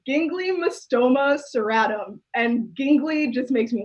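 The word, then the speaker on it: Ginglymostoma: this i'll try again i googled it to make sure i can pronounce it correctly it's gingly mustoma and gingley just makes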